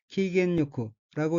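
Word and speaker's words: 機嫌よく: 다음 어휘는 한자가 기혐이고 각기 틀기 싫어할 혐자이고 일본어로는 키겐요쿠라고 읽으며 키겐요쿠는 기분이 좋다는 뜻인 키겐과 요이의 형용사 어깨가 부사화한 것으로 키겐요쿠는 기분 좋게 란 의미입니다.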